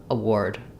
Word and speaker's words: award: award award and then when we have the letters R and W together words that start with W or have W in the middle and then a r or or o r we change how we pronounce the R so rather than a saying r or air in this word it actually says the or sound like in four number four um so thinking about